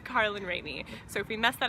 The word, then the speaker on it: Carlin Rainey: Kate really didn't do anything her name is pronounced Carlin rainy so if we messed that up in the